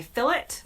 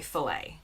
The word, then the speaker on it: fillet: For example, in the UK, many people say fillet, while in the US, we say fillet.